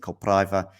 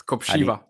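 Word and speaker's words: Kopřiva: Draper winning, of course, against Kopriva early today, having not too many problems there. Am I mispronouncing the name? Yeah. It's Kopshiva. Kopshiva. Okay, nice. Yeah, it's that R with something.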